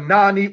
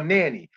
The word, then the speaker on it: Nanny: So one of the Maroon leaders was a lady by the name of Nani or Nanny. Depends on how one wants to pronounce it.